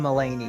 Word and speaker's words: Mulaney: do you say his last name group john mullaney john mulaney it was like him with his like [